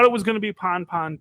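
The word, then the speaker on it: pan-pan: passed on that too and it's pon pon because uh you do a short a as opposed to a long a because Mayday is long A's and because if you're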